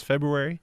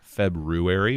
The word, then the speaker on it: February: an extra day ray there's two ways to pronounce February how's that February or February both are accepted yeah I think colloquially crazy words say that Wow I think you could say both yeah this year was